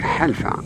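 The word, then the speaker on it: حلفاء: The dominant vegetation is the esparto grass or alpha, pronounced in Arabic halfa, which characterizes the steppes of the high plateaus.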